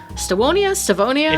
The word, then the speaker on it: Stevonia: Peace talks are underway with neighboring Stevonia. Stevonia? It's Stevonia, but they spell it with a W.